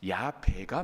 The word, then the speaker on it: 야훼: 그러다 보니까 실은 야훼가 아니라 야베가 맞을 것이다라고 말하는 학자들도 많이 있어요.